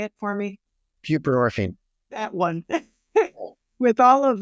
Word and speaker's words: buprenorphine: buprenorphine.